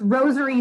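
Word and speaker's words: Rosairy: my instagram is different it's rosary sparrow uh rosary is spelled r-o-s-a-i-r-y sparrow like jack sparrow um the reason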